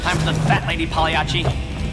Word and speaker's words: Pagliacci: Time for the fat lady Pagliacci. Actually, Dave, the proper Italian pronunciation would be Baiacci.